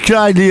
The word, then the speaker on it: Cradley: It's pronounced Cradley, right?